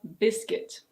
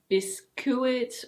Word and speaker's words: biscuit: Now we have: biscuit. It's not "bis-cu-it" or "bis-queet". It's: biscuit. Biscuit.